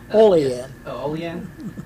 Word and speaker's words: Olean: correctly uh from molly new york you don't pronounce that correctly olean okay i only remember it from the k